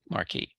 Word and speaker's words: Marquis: He says he does pronounce it a la the French way, Marquis.